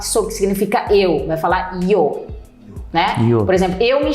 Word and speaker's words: yo: em espanhol Yo meamo alguns lugares aqui da América Eles vão usar pronúncia do jo o o jo então jo meamo e na Argentina bizar a gente até fala gente povo é fresco mas não é eles vão falar com show então eles vão falar